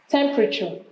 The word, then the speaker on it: temperature: Temperature. You have temperature here. Temperature. And like that different patterns of the stress. Remember it can't fall at the end.